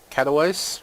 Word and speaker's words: Katowice: We have our bulldozers, I believe 32 tons, from Katowice, I guess it's pronounced, to Orleans.